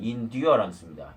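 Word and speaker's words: endurance: and patient in duarence in therence가 아니고요 indurance입니다 아일랜드에요 s를 발음 안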